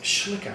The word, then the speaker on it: Schlicker: um who coach har can't actually pronounce that it's schlicker Phil if you're watching schlicker and a young boy